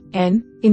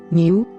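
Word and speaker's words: νῦ: N, new sounds like the n in the English word new. However, the name of the letter is pronounced ni, not new, or nu, as you may hear it pronounced in English.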